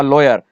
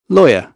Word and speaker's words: lawyer: नो आई एम अ लॉयर न मां वकील आहियां हिते लॉयर आहे लायर न आहे अचो त हिन जी पहिरियों तव्हांखे प्रोनाउंसिएशन ॿुधायां lawyer, lawyer, सो हितां वारा घणा